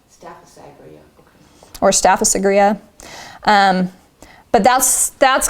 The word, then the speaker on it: Staphysagria: Staphysagria. Staphysagria, okay.